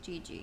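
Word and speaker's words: Jiji: Oh, Gigi. G-I, or J-I-J-I is how it's spelled.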